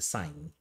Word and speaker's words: sin: a function though it's written as Sin we pronounce a sign trigonometry right yeah and this function is inside